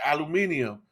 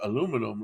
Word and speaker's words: aluminum: where are you from let's see how you pronounce these things and aluminum was one of them and he said it like that aluminium and i was just like aluminum like what the hell and then like he